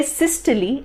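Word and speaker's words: systole: Cardiac cycle के बारे में बात करेंगे तो सिस्टले एंड डायस्टले, इट इज नॉट सिस्टोल एंड डायस्टोल, इट इज सिस्टले एंड डायस्टले।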